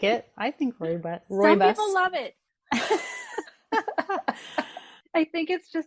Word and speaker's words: rooibos: What is a rooibos? Yes, that's a great question. Can someone tell me how to say this? Rooibos.